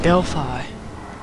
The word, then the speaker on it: Delphi: That's how you say it, Delphi.